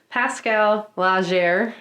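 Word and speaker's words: Laugier: the living hell of depravity mm-hmm so essentially Pascale Legere I yes that's how you say his name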